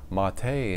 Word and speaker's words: MATE: And according to the website, this is pronounced mate in spite of it being spelled the mate.